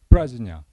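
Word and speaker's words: प्रज्ञा: 평전의 제목에서 마하는 범으로도 그대로 마하로 발음이 됩니다. 반야는 플라즈냐 바람일단은 파라미타 그러니까 그 범의 발음을 가장 유사한 한자를 찾아 가지고 비슷하게 적은 거죠.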